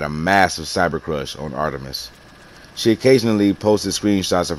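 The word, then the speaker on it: Art3mis: a female gunter named art threamus pronounced artemis i discovered it about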